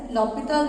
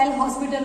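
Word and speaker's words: L'Hôpital: Time नाम लिया था दैट इज लॉपिटल रूल, जिसको आप लोग एल हॉस्पिटल रूल भी बोलते हो, वैसे एच साइलेंट होता है उसका।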